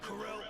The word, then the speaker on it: Corel: real fast welcome to Corell prison I always pronounce it Coral not Corell no wouldn't try that